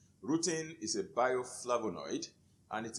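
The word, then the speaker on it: rutin: is a bioflavonoid that is called rooting it is spelled r-u-t-i-n routine routine is a bioflavonoid and it is usually found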